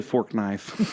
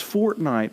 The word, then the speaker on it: Fortnite: I was like like no I don't play fork knife and they're like they're like no it's fortnite I was like I was like what I